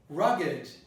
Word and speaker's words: rugged: So if I say rugged, I'm going against a rule that says if you have a ga, you don't pronounce the E that comes after it, except when it is an adjective. So this is an adjective, you pronounce rugged.